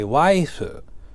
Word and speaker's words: waifu: translated back into Japanese the phonetic spelling becomes my waifu like if you were to say my life it's a knife it's kind of the